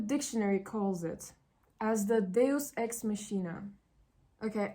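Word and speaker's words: deus ex machina: calls it as the deos X mchina okay I've looked at the pronunciation and it says deos X makina which means an unexpected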